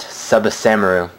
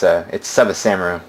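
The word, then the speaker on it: ツバサ丸: pronounce it, so it's Tsubasamaru. That T is silent.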